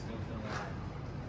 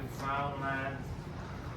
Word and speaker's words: Newfoundland: Now a scoff is a dance in a Newfaland blue stars of beer and it's pronounced Newfoundland. Not Newfoundland. Not New Finland.